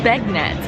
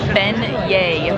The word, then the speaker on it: beignets: there's a it reads begnettes and I'm like no they're fan yay it's French so for all you who don't know how to pronounce these a delicious deep-fried dough it is been yay even with the pronunciation